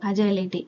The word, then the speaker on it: agile: Okay, சிலபஸில் next topic introduction to அஜைலிட்டி. இதை வந்து நம்ம அஜைல், அஜைலிட்டி அப்படி தான் ப்ரொனவுன்ஸ் பண்ணணும்.